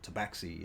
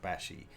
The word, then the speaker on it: Tashi: they are Tashi or toxi if you depending on how you say it I discovered it's actually pronounced Tashi because it's a South American word from South America and has pronunciation stuff